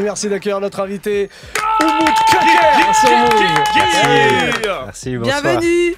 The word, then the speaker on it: Köker: Et Köker, K-O-K-E-R. Attention, Köker. Hein. Köker, on Parce dit, que ça se prononce.